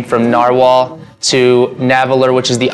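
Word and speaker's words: Narwal: the name says naer I'm pretty sure it's just pronounced narwhal that's how they the company itself has pronounced it to us I think it was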